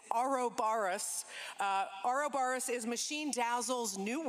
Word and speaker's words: Ouroboros: As this event here also heralds the coming of Ouroboros. No, Ouroboros. Sorry, folks. I say it wrong. It's Ouroboros.